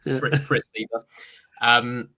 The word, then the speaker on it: Fritz Leiber: the year wrong, or I'll pronounce an author's name wrong, like I just did with Fritz Leiber a second ago. Fritz Leiber.